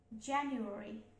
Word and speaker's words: January: So you were re January, you were. So January, January. So it is just stress syllable.